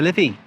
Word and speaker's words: Liffey: And then how do we pronounce the river though? The Liffey.